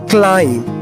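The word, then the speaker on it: climb: रन run running चढ़ना क्लाइम दोस्तों यहां पर बी को हम साइलेंट रखते हैं और पढ़ेंगे क्लाइम और इसकी पास्ट फॉर्म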